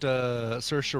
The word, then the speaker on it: Saoirse: got her it's got saoirse ronan rhymes with inertia ronan mm-hmm it's got laura